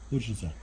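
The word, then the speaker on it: bučnice: How do you say it? Chocolate? Buchnice. No, chocolate. Chocolate buchnice. Buchnice, which is... What is it exactly? Chocolate buchnice, which means chocolate pumpkin.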